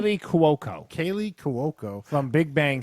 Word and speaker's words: Cuoco: Kaylee Cuoco Kaylee Cuoco.